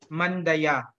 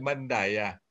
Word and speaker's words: Mandaya: Ang tamang pronunciation, Mandaya. Okay, salamat po. Oo, pag insider, Mandaya. Pag outsider, murag Mandaya.